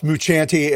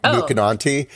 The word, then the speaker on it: Mucciante: Well, it's Mucciante, and you did real well on it. And I only know that because I managed to find an interview with him, because I was calling him Mucinanti in my head the whole time.